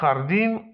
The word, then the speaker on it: jardín: Literka J w hiszpańskim wymawiamy jako H. Un jardín, un jefe.